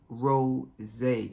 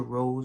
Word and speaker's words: Rosé: the fragrance is signature ro zay it has an accent in the word it is not signature rose although there is rose